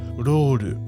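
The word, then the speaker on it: ロール: To say it like a Japanese person would, split the difference between that L and R, and you'll read the word as roru.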